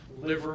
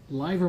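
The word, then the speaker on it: livor: fibers okay now are you also familiar with liver mortis or liver mortis live or mortis that's spelled l-i-v-o-r mortis is the term that's used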